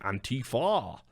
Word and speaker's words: Antifa: sometimes referred to as aunty far which Bray believes has been influenced by the Italian word anti-fascism oh he says auntie